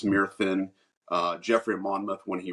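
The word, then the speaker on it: Myrddin: My character, instead of Merlin, it's Myrthin, which was the actual Welsh name.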